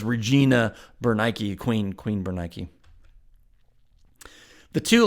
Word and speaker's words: Bernice: to an end here Bernice again in English probably pronounced more like bernik after Nike the goddess of victory was not agrippa's wife